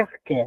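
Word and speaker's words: ἀρχή: O arqué ou arché? Arché o eh na verdade se pronuncia arqué, né?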